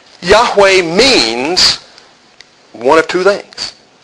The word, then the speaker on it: Yahweh: no vows in Hebrew but it will be pronounced y a h we H not Jehovah we're going to talk about that